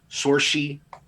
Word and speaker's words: Saoirse: Sorshi, because I sound like Sushi.